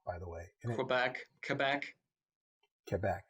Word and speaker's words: Quebec: Most of my friends, their family hails from Quebec. You said it wrong, by the way. Quebec.